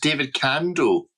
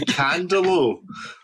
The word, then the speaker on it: David Candaux: Yeah, I also realised that much like Sriracha from earlier on, I've been adding an L to his name. So it's pronounced David Candaux.